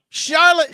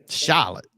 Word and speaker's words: Charlotte: isn't new to him Charlotte shout out he said it right too Charlotte Charlotte it's not Charlotte Charlotte Charlotte rise up